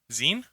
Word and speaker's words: zine: sign was insane yeah Zine like magazine I always say Zion